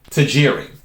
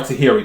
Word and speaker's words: Tajiri: that came out is Satoshi Tajiri R Tahiri depending on how you want to pronounce it for those who don't